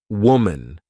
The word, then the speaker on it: woman: the beginning wow M the pronunciations are different woman women so watch out for that when you say this